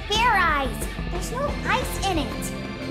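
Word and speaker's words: Fairize: that sort of like fried rice idiot it's pronounced fair eyes there's no ice in it what does this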